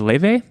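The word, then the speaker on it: Laufey: It's pronounced Le, but it's like a weird Icelandic pronunciation, so it's actually spelled L L A U F Y.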